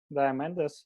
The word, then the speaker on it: Diamandis: It was written by Steven Kotler and Peter Diamandis, if I pronounce it.